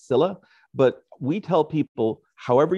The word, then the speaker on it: Scylla: According to Old Greek, I think it would be more closer to Scylla. Or Scylla. According to modern English, it's been rendered as Scylla.